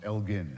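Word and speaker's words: Elgin: called the Elgen marbles, always pronounced wrongly in this country. It was Lord Elgen in fact hard G that they had annexed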